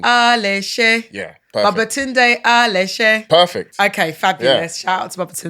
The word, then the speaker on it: Aléshé: It's Babatunde Aleshe. Hey! Babatunde, West African to West African. Did I come correct with your surname pronunciation? 100%.